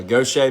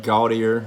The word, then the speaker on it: Gautier: new jersey so uh gautier mississippi i know how to pronounce that uh it's not gaudier like everybody else tries to butcher it uh yeah my eye